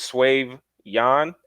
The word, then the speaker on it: Swave Yan: for some reason they say it like with a French accent. They be like Swave, but I'm Italian. It's just Swave Yan, Swave Yan.